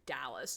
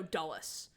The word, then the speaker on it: Dulles: It's spelled Dulles. I was hearing Dallas. No, Dulles.